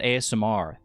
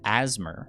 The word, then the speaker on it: ASMR: in the episode, but they didn't call it ASMR. They pronounced it like a word. They said asthma, and I've never heard it said like that.